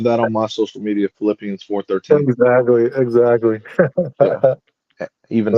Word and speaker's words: Philippians: They always got good ones in Philippians. I said Philippines. I know. I was like, I was like, Oh, shit. that's hella funny. It hella looks like it's spelled Philippines I on know.